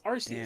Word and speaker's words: Arceus: But because of UK, most people say it's Arceus now because I'm gonna call it Arceus because you just want to be a fucking dick.